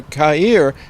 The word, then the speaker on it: CAIR: What's the difference between RAIR, which and C.A.I.R, CAIR, which is the pronunciation, but it's also one of those oxymorons, because it's pronounced CAIR.